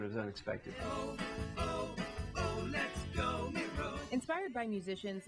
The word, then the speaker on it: Miro: There's a lot of Miro, but it's really Miro.